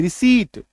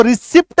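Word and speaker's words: receipt: आई ए टी, रिसीट, इसको रिसिप्ट नहीं बोलेंगे। कई सारे लोग क्या गलती करते हैं, रिसिप्ट दे दीजिए सर, रिसिप्ट, रिसिप्ट दे दीजिए, ये गलत उच्चारण है, रिसिप्ट नहीं बोलना है, रिसीट। क्या बोलेंगे? रिसीट। पी है ही नहीं वहां पे, ठीक है।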